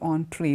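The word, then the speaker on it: entrée: you like for the entree the entree means it is written E and TR ie doesn't mean entry it's pronounced entree and this is the main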